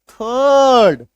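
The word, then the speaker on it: third: लिखोगे तो आप ऐसे लेकिन जब आप बोलोगे थ अ र ड ठीक है र को साइलेंट करना थर्ड ए बी एस यू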